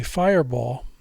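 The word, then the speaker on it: Firebaugh: And one town, especially, Fireball, was very important to me. And we pronounce it like it's B-A-L-L, but it's really B-A-U-G-H.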